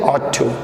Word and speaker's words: ought to: ऑट टू, इसका सही pronunciation है ऑट टू, ठीक है।